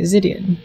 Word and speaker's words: Zidian: I said your name right, Zidian.